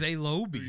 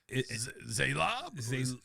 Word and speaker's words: Zaylob: Again, we have a situation where everybody messes up the name. Yes, exactly. Who's Zaylobi? Exactly. That's not how you say it. It's Zaylob? Zaylube? And then finally someone says it right, Zaylob, and all the lights flicker.